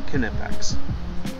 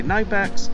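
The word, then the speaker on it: Knipex: to pronounce it but i talked to the rep and he said that they pronounce it canipex i've heard people say knifex but they're saying canipex so i guess the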